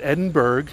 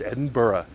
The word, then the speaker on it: Edinburgh: weekend one weekend anyway let's say it together it's not Edinburg it's Edinburgh it's not Edinburg it's